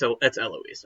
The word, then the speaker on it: Eloise: It's Eloise. I promise that's how it's pronounced.